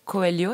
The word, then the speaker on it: Coelho: cool à ma gauche Flavia coelio est-ce que je prononce bien c'est parfait c'est parfait parfait tout